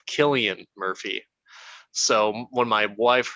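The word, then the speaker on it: Cillian: a lot of people i've heard multiple people pronounce his name as sillian murphy not killian murphy so when my wife heard me say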